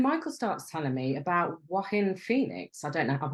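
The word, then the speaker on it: Joaquin: And how do you pronounce his name? Wahin, is it? Yeah, it's it starts with a J. Yeah, it's like Spanish, isn't it? Wahin Phoenix.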